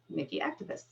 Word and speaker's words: Niki Aktipis: So without any further ado, it's my pleasure to welcome our very own Niki Aktipis. Thank you, Julie. And yes, you pronounced that correctly.